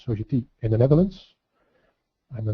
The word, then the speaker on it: Sogeti: I work at Sogeti, which we pronounce as Sogeti, in the Netherlands.